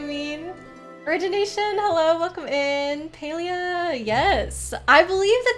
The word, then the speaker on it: Palia: chippy's Avatar you mean origination hello welcome in paleo yes I believe the correct pronunciation is Paleo based on what I read from their Discord my instinct is to call it palia so I might say the wrong thing or